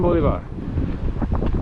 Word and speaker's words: Bolivar: The best you, like I said, the most kind courtesy you can provide him is to pronounce his name correctly. Simone Bolivar.